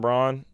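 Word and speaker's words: Braun: genuinely I think Christian Brown or brown I think it's brown maybe even though it's spelled like brown I think Christian Brown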